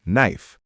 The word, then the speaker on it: knife: And when you see KN, you'll remember that the K is silent, like in no or knife.